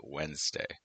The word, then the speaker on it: Wednesday: Um, today is we pron we spell it wedd day but we pronounce it Wednesday.